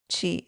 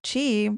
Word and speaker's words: qi: The same ones used in acupuncture to move what's called qi. It's also spelled like QI, which translates to life force energy. It's believed that when your chi, your energy, becomes a block or stagnant, it